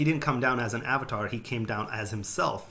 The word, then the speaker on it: avatar: avatar comes from that's the root and even avatar you know you guys pronounce it as avatar but it's pronounced avatar means oh thank you